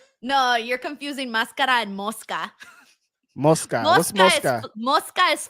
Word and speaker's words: mosca: No, you're confusing mascara and moska. Moska. What's moska? Moska is fly. Muska is mask. Okay. Okay. Mo, wait. Say it one more time. Moska is fly. Mosca is fly.